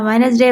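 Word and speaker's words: Wednesday: इट वाज़ अ वेडनेसडे। वेडनेसडे में एन ई एस नेस बनाने का वन नेस नेसडे। वेडनेसडे वेडनेसडे। अब इसमें डी साइलेंट भी एच नेस।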